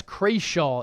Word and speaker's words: Crawshaw: I guess Crawshaw is the correct pronunciation.